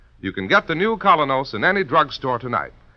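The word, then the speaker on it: Kolynos: personality and charm you can get the new colinos in any drugstore tonight it's spelled k o l y n o colos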